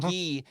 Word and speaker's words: Guy: is the character gee it's spelled guy guy pronounced ghee in mighty ducks and